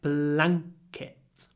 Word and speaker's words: blanket: a before an unvoiced C so we get blanket blanket we really clip if we were saying